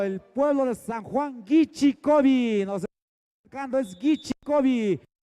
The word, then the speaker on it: Guichicovi: contra el equipo de San Juan Guichicovi, que esa es la pronunciación correcta, Guichicovi.